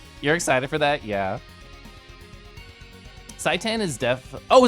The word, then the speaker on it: seitan: Seitan is oh, it's pronounced like Satan.